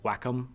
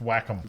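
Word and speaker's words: Wacom: for anybody who's ever used a like a whack which apparently is the correct pronunciation I was told it's not wake I've been pronouncing it wake all this time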